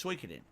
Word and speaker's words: Suikoden: It's not Suikoden, it's Suikoden. Okay, call it that now. No one agrees. Look it up. No one is agreeing. Everyone's disagreeing. Suikoden.